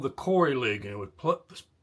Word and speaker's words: Khoury: Chaos Silence Khoury? You know why I pronounced the K When I was a kid, we played baseball in a in a leagues, and it was called the Khoury League, and it was